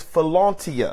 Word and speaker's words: philautia: going into two is fona self love fona is spelled p h i l a u t i a fona this is a type